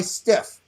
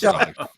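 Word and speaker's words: Steiff: So if I'm sitting right there, it looks like it says to me, being new, Dumbo plush by Stiff. That's what I'm thinking. Yeah, it's pronounced Stife.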